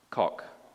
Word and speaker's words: Koch: And the first version of the Equality Act was brought before Congress in 1974 by Ed, what do you pronounce his name, Koch or Coach? Koch.